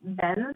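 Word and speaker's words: Benes: um it's Brooke and the last name I believe would be pronounced Benz it's b-e-n-e-s and she's the administrator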